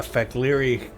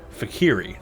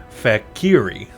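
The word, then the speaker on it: Fek'lhri: game they call it fakir II not fake leer yeah I keep wanting to say the L HRI fact leery but it's actually fact kiri just kind of imagined that the L is silent Securi is how they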